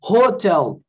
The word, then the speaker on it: hotel: No português, o H não tem som. Então, eu falo hotel. Né? Eu falo só com o som do O.